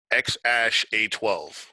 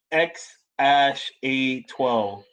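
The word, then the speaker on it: X Æ A-12: So apparently that AE thing is pronounced Ash. So phonetically, it's X Ash A12. X Ash A12.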